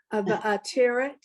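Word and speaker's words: ועטרת: The accent's on the last syllable, the ateret. You got the words right, just the accent. Thank you. Va'ateret, Nitzachon, Ta'at Reim, Yep.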